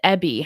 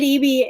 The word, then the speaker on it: Eby: wanted to ask, David Ebby, how bad does Bettina believe the foreign interference is in BC in particular, or Canada more broadly? David Eby is that's our premier. That's how we pronounce it.